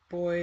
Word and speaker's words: buoy: Boys as in uh boy as in bu. What do Americans call it? Do they call it a buoy or something? Um, yeah, boy. You know, in English pronunciation, but British English pronunciation.